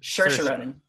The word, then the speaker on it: Saoirse Ronan: 3 Billboards, Margot Robbie in I, Tonya, and Saoirse Ronan. Is it Saoirse Ronan or Saoirse Ronan? Saoirse. I was right first time. Saoirse Ronan.